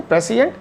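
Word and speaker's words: prescient: तो इसको सिएंट प्रोनाउंस होते हैं, तो जब दोनों को साथ में लिखते हैं तो प्रेसिएंट एंड नेसिएंट प्रोनाउंस होते हैं दोनों ये।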